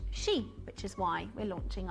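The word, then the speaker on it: 蛇: snake and in China the symbol is pronounced she which is why we're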